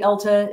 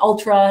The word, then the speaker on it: Ulta: I hadn't really shopped at Ulta that much. And, you know, in fact, a lot of people were calling it Ultra at the time. You know, everybody got the name wrong.